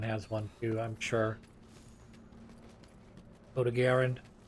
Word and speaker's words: Odogaron: Odogaron. Sorry. I'm gonna go back and forth between calling it Doggeron and Odogaron. Because I think that's actually how you're supposed to pronounce the word.